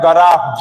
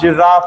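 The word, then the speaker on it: graph: और Cartesian plane का मतलब होता है ग्राफ। जिराफ नहीं।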